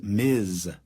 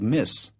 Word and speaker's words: Ms.: formal, be sure to address her as Miz with a voiced Z sound. If you mispronounce it s, it sounds like miss, which some people will find disrespectful.